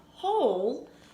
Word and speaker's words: whole: And remember we talked about whole is kind of, you can sound it out. If you remember, there's a silent W at the beginning. Because then I can sound out O. And I know that since the O says its name, that there would be a silent E at the end.